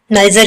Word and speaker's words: miser: Question number 4, what did Nevers ask the miser, जैसे तो इसमें माइजर बोलते हैं, कहीं मेजर बोलते हैं, तो सब I think माइजर is correct pronunciation, तो हम माइजर ही बोलेंगे।